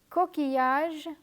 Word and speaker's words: coquillage: Let me repeat the words that have double L and are pronounced as y. Famille, coquillage, billet.